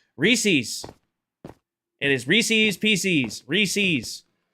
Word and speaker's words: Reese's: Reese's, not however you tried to get me to say it. Reese's is the correct way to say that.